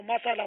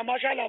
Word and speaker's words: ماشاء اللہ: بھی تو نہیں آتا نا، ہمارے یہاں تو مسالہ مسالہ مسالہ یا ماشاء اللہ ماشاء اللہ ماشاء اللہ، اب ماشاء اللہ مسالہ،